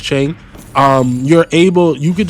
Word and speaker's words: Qing: I believe that's how you pronounce her name. Don't please don't like I hope I I hope that's how you pronounce her name cuz that's embarrassing. Um I'm I'm pretty sure it's Chen.